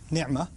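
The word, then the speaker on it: نعمة: لفظ ہے نعمہ۔ نعمہ عین کو میں ذرا زور سے اس لیے پڑھتا ہوں کیونکہ میں عربی پڑھتا رہا ہوں اور پڑھاتا رہا ہوں، تو مجھے اردو کے تلفظ سے ذرا الرجک ریاکشن ہوتا ہے، تو میں نعمہ ہی کہتا ہوں۔ ہمارے ہاں مجھے پتہ ہے نعمت کہتے ہیں، جب بھی میں نعمت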